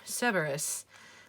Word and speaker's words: Cerberus: uh cerberus md card i am not saying it with a hard c because it makes me sound like i'm saying care bears and i'm not talking about care bears i'm talking about cerberus so everyone can just